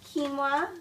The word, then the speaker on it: quinoa: way to have a dessert and then um quinoa that's how you pronounce it um quinoa is a great alternative